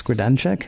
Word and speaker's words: Grodenchik: I'm bad at pronouncing his last name. Is it Max Grodenchik?